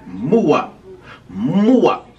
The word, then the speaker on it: Muwop: Today, and I mean today, this evening, we got Mulatto, Muwop. Is that how you pronounce it? Yeah. Muwop.